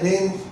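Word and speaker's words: reign: सत्ता को बोलते हैं रेन. जो किसी राज होता है उसको भी बोलते हैं रेन. सो ये सेम प्रोनाउंसिएशन है वर्ड का रेन का.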